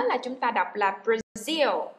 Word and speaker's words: Brazil: Nhớ là chúng ta đọc là Brazil. Nhấn vần thứ hai cho các bạn không đọc là Brazil nha.